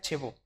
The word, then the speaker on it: Chebaux: tu apellido qué bueno mi apellido se ha pronunciado chivo es francés me decías sí buenas